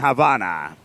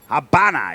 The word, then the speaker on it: Habana: which should be demolition on Havana Habana even as you should properly pronounce it my apologies s launch